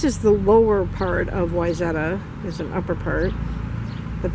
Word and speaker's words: Wayzata: I am in Wayzata, Minnesota, and a lot of people want to pronounce it Wayzata, but it's pronounced Wayzata.